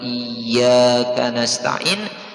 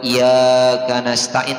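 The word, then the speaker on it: إِيَّاكَ نَسْتَعِينُ: dia mengulang Ayat tersebut misalnya iyaka na'budu wa iyaka nastain' dibacanya iyaka na'budu wa iyak nastain tanpa tasdid maka wajib Diulangi Ayat tersebut jikalau tidak Diulangi maka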